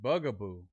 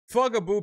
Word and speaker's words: fugaboo: No, stop saying Bugaboo. Fugaboo pronounced fugaboo is a regional slang term meaning to lie, trick or deceive someone.